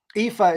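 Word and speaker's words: Aoife: no I mean Eve IFA is a-o-i-f-e IFA sorcia spell that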